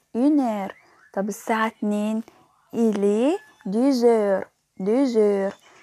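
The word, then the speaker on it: deux heures: طب الساعة اتنين إيلي ديزير، ديزير. قلبنا الإكس لزد في النطق عشان بعدها أش حرف فويل.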